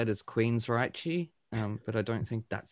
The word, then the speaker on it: Queensrÿche: umlaut on the Y, that C-H-E sound, for Germans anyway, it's Reich. So Queensrÿche.